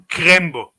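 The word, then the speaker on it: Krembo: that was my nickname so crumble or crumble crembo crumble yeah did i say it right yes it's like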